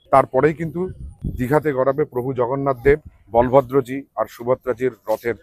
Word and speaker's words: জগন্নাথ: কিন্তু সমস্যাটা বাধলো একটা সেটা হলো তারা জগন্নাথ উচ্চারণ করতে পারলেন না। তারা সেটাকে করলেন হচ্ছেন জাগারনাথ।